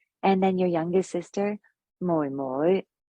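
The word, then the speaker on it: 妹妹: So ga right, just way up high, ga and then your youngest sister, moi moi, right, moi moi, right, moi moi, moi moi.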